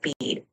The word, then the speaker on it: Bede: And the name Bede, B E D E, is pronounced like Bead.